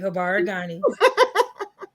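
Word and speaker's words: Habari gani: You said it right, Habaragani.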